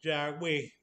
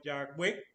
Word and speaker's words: Yahweh: O sea, como no tiene vocales, pues, o sea, los judíos la pronuncian como Yahweh, que generalmente se traduce a Señor.